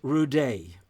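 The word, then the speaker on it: Rudé: constantly picked on as rude George so when he became an adult he thought well he put an accent on the E which almost makes it sound French you know George rude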